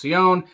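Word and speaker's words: Sjón: Directed by Valdemar Johansson in his feature film debut, he co-wrote the movie along with somebody I believe is pronounced Sion, S-J-O-N.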